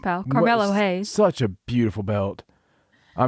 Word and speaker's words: Carmelo Hayes: off incredible show going out we're starting out camelo hayes yes and trick williams yes they're a great team and of course he's the new north american champion yeah absolutely pronounced pal carmelo hayes such a beautiful belt i mean it's a